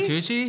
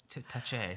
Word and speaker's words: Tucci: say it oh my god i forget stanley tucci i always i i really looked at you like when i saw it stanley to touch it i got confused i think you thought stanley